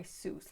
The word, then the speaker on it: Seuss: mispronouncing his name uh zeus was his was german or apparently it was now pronounced zeus or sus but he did go by soos later because it was around uh hitler's going to wikipedia it rhymed with mother goose now at the time